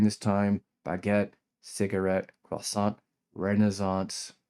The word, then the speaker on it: renaissance: Baguette, cigarette, croissant, renaissance or as the British say renaissance and sometimes fancy sounding terms like or your reason for being, reason for living, purpose in life.